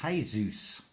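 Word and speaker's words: Jesús: at the word Jesus in Mexican it's hey-zeus is spelt as hey Zeus Zeus is another name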